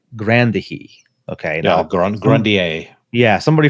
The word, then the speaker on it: Grandier: I would pronounce it Urbain Grandier by the way it's spelled, but from what I've heard, it's more like Grandier.